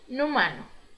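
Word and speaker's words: inhumano: para frente gente uma consoante uma vocal Agafarma sílaba com a vogal por exemplo e inumano inumano e no mar porque também gente você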